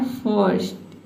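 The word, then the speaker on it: first: तो आपको क्या करना है, आधा र का जो साउंड है इसको साइलेंट रखना है।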